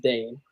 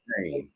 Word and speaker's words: Dhane: And just so you guys know, it is pronounced Dane. I heard it earlier. I just wanted to it's pronounced what? I said Dane.